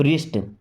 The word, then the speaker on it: wrist: देखिए, आर के पहले अगर डब्लू आ जाए, या ऐसा बोले कि डब्लू के बाद अगर आर आ जाए तो हमेशा डब्लू हो जाता है साइलेंट।